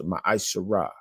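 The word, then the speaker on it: מעשר: And how you pronounce that in the Hebrew is ma'asharah.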